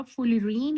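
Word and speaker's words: fullerene: है कार्बन की और ये वो वाला फ्लोरीन नहीं है ठीक है ना इसकी स्पेलिंग भी डिफरेंट है एफ यू डबल एल ये फुली रीन है फुली रीन फुल एफ यू एल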